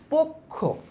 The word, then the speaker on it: পক্ষ: করছি তো আমি একবারেই পক্ষ এটার উচ্চারণটা কি বলতো পোক্ষ এই যে দেখো পোক্ষ